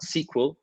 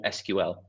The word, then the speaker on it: SQL: tonight is all about SQL or SQL it's got two ways you can pronounce it SQL SQL both always go and